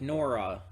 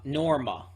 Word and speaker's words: Norma: of covered up uh norma norma there's an m there i forgot norma didn't even know about